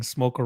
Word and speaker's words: Smolka: More with less saying Smolka rhymes with polka.